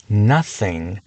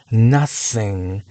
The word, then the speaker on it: nothing: 있습니다 나 sing nothing 여기서 th가 두 번째 소리 쌩 쌩 앞에서 강한 쌍디귿 발음을 만들어냅니다 이렇게 th가 셀러브 앞에 있는 경우 th를 사용해 nothing nothing nothing으로 발음하는게 정확하지만